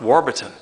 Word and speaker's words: Warburton: the village of Warburton so it's pronounced Warburton and this is quite